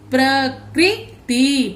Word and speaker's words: प्रकृति: हैं, क्रू करके बोलेंगे, लेकिन हिंदी में इसका उच्चारण होता है क्री। प्र क्री, त को छोटी ई ती, प्रकृति, प्रकृति।